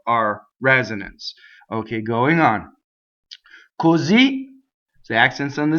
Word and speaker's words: Così: Così, the accent's on the Z. Così l'effluvio. So here we have a double syllable word that causes a phrasal doubling because of the short accent at the end.